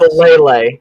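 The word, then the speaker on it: Faalele: Falele, that's how you pronounce it.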